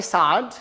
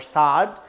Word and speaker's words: Saad: First and foremost, my name is Saad, so you can pronounce that Saad or Saad. Technically, it's Saad, and you can call me Dr.